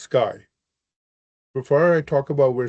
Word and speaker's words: CXAI: founder, chairman, and CEO of CXAI, pronounced Sky.